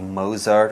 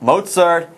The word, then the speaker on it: Mozart: it's Mozart and Saltzburg sometimes you want to pronounce that Z softly and maybe see Mozart or Salzburg don't make that mistake Mozart and Salzburg between day one and